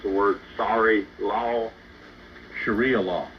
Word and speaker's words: Sharia: have run the country by I can't quite pronounce the word sorry law Sharia law Sharia I didn't mean I didn't mean to say